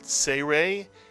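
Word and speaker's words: צירה: 2 dots under a letter is the Hebrew vowel serei. It makes the A sound, as in the word say or cake.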